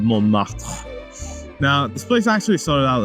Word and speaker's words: Montmartre: of all to pronounce so in plain English it would actually sound like Mountain mortars but it's French you remove all the vowels and you get more now this place actually started